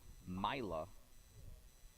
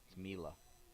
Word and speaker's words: Mila: mad is number 22 myla or mila mila that's how they say it mila leading off for